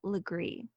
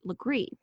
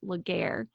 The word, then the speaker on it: Legare: like it is pronounced Legare but it has a little bit of a French pronunciation Sol agreed this is